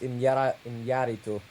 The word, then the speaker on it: Iñárritu: I'm pronouncing it correct this time, even though I like to say Iñárritu. González Iñárritu, because the accent's on the first A in his last name.